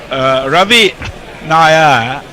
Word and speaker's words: Ravi Naya: Yes, Ravi has very helpfully said, for whomsoever it might concern, Ravi Naya, rhymes with lovey liar.